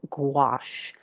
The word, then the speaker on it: gouache: Good morning, my friends, and welcome to Gouache 101. And first off, for the most part, it is called gouache. Kind of rhymes with squash.